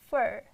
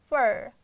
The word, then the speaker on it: for: But in rapid speech, native speakers, they will pronounce like fur, fur, Again, we are changing into schwa. So it's not for, it's for you.